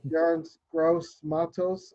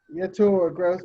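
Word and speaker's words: Yetur Gross-Matos: I'm going to go with AJ over Yarns Gross Matos. I said that wrong too. Yetur Gross.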